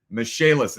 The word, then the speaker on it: Michaelis: Michaelis, it's spelled like the name Michael is. Michael is.